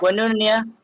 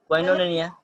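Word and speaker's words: κοινωνία: कोइनोनिया, कोइनोनिया, right, कोइनोनिया, कोइनोनिया। तो आप लोग स्पेलिंग लिख सकते हो, KOINONIA, कोइनोनिया। ओके, मैं दोबारा बोलता हूँ, KOINONIA, कोइनोनिया।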